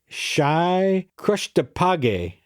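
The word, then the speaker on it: Schéi Chrëschtdeeg: But well, how do you say it? You say, Shy Krushtapage.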